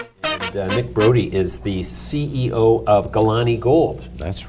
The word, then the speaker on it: Galane: Brodie is the CEO of Galane Gold. That's right. Well pronounced.